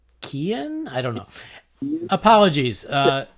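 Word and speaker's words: Keoghan: email i don't think apparently you don't pronounce the g it's kian i don't know apologies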